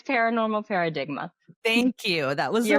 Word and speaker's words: Paradigma: yeah, and it's Paranormal Paradigma.